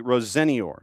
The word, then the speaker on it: Rosenior: Liam, so we now officially do have a pronouncer on what Liam wishes to be called. It is officially Rosenior.